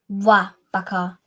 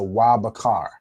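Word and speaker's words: ובחר: Wa Bakar. Wa, right? Perfect. So Wa Bakar.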